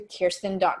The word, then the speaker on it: Khierstyn: product launch or whatnot you can go to Kirsten com my name is impossible so it's spelled KH i e r s t YN